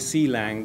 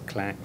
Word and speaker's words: Clang: and a a lot of people call it si lang but actually it is pronounced as Clank so GCC I think most of us we